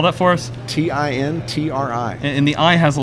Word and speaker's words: Tintri: It's actually Tintri. Actually, it's an accent. Tintri is Gaelic for lightning. So, there you go. So in Gaelic, it's actually has the accent on the final I.